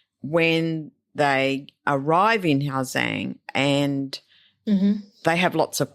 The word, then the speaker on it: Giang: That's right, because it's Giang, but it sounds like Zhang.